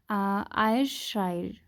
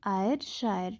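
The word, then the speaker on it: Ayrshire: है India, that is आयरशायर, ठीक है ना। वी कैन प्रोनाउंस इट किसी भी तरीके से, ठीक है ना। AY आयर, SHIRE शायर, ठीक है ना।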